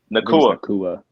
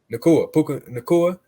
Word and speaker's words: Nacua: And Cooper Kupp and Puka Nacua, or did I say it right that time or no? Nakua. Nakua.